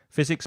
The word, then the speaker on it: physics: or your area your physics biology chemistry be careful of the pronunciation of that hard C at the beginning of chemistry and also the fur of physics geography history it Information